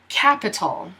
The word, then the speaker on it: capital: So, capital. K, A, P, tol. K, A, P, tol. And you'll hear that this A sounds kind of like a U.